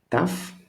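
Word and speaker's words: ταυ: Then we go to tough, your T, we say it tough.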